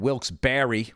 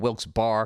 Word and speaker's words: Wilkes-Barre: And the night before, I performed in Wilkes-Barre, which I was calling Wilkes-Barre because it's spelled Barre, Wilkes-Barre.